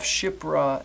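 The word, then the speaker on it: Shiphrah: sure any hebrew person reading the story of shipra and pua yeah i said that right be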